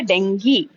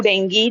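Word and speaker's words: dengue: Second हमारा disease है डेंगी। Okay, डेंगू, डेंगी जो बोलना है आप बोल सकते हो, ठीक है, बट इसका राइट प्रोनाउंसिएशन डेंगी होता है।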